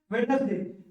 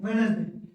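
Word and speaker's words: Wednesday: बोलते है एंक चीफ इसको क्या बोलते है वेडनेसडे वेडनेसडे भी बोलते है वेडनेसडे भी बोलते है कोई दिक्कत नहीं दोनों बोलते ठीक है वेनसडे ठीक है फिर बैच क्या बोलते है इसको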